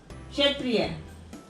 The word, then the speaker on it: क्षत्रिय: क्षत्रिय। क्षत्रिय। इसमें छोटी ई की साउंड आ रही है, क्षत्रिय।